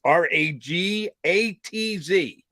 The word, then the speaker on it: Ragatz: It's Ragatz. Is it Ragatz? I'm going Ragatz.